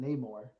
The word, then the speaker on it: Namor: Everyone pronounce it Namor.